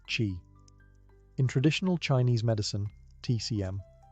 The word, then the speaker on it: qi: of harmony, the flow of energy, or qi, pronounced qi.